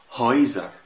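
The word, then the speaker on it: Häuser: هتبقى الاتنين كده مع بعض أي أي. زي إيه؟ زي كلمة هايزر هايزر، يعني بيوت، هتبقى تقريبا نطقها زي نطق ده الاي او.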